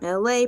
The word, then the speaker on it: Elay: I'm LA, pronounced like LA, like the city.